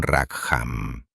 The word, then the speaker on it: Rackham: Este carismático y temido líder era John Rackham, pronunciado John Rackham, enormemente famoso en todos los mares del sur bajo el pintoresco apodo de Calico Jack.